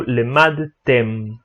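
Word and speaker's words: למדתם: Então, quando a gente precisa pronunciar a letra mem no final, a gente sempre precisa fechar a boca para pronunciar esse som. Então, katavtem ou lemadtem, sempre fechando a boca.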